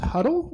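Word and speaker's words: Hudl: The next one's actually pronounced Huddle, and it's a platform for athletics management that they use for like the football team and other sports.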